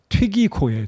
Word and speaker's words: 두기고: 두기고. 근데 이 헬라어 발음으로는 굉장히 독특합니다. 튀기고예요.